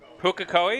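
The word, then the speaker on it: Pukekohe: him having a very good race there pukakoi pukakoi is that how it's pronounced thank you michael zalavari um sorry luke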